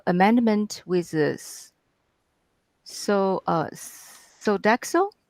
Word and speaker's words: Sodexo: contract uh uh amendment with this so uh so daxo how do you pronounce that word that is correct sodexo america uh for the amount of amended amount